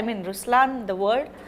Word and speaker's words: Ruslaan: So even in Ruslaan, when you say Ruslaan also means the lion, it's the attitude of a lion, but the right pronunciation is Ruslaan.